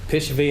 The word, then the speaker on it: Pishvaei: Pishvaei, am I pronouncing it correctly?